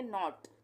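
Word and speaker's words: knot: के एन ओ टी यहां पे भी ये साइलेंट हो जाएगा। इसका उच्चारण नहीं करेंगे। हम पढ़ेंगे नॉट।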